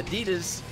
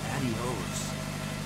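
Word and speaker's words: adiós: And one day there was this Hispanic guy in the lobby, and she came in and I said, okay, Adidas, and she said Reebok, and I said Adidas, it's the only Spanish I know.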